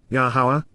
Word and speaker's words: Yahowah: la, according to and in relation to, Yahowah, Yahowah, the proper pronunciation of Yahowah, our Eloah, God has directed in his Torah, teaching regarding his Ha-Yeh, existence and our Shalom, restoration.